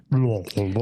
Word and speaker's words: Louisville: And you said it right. Good job. Louisville. It's like you have marbles in your mouth.